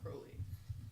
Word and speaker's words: Crowley: Demon's name is Crowley which always confuses me because it's spelled like Crowley is in Supernatural so I'm always like it's crowded but it's Crowley um so they or